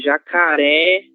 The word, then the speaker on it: jacaré: Sim, de jacaré pertence a qual dos três primeiros grupos? Cindy? Perdão, meu microfone. Oxítona. Oxítona. Por que ela é oxítona, Cindy? Por o acento na última sílaba.